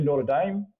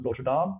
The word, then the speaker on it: Notre Dame: see it was actually Notre Dame or Notre Dame depending on how you say it play uh so